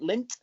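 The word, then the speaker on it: Lindt: How do you pronounce it? Lint.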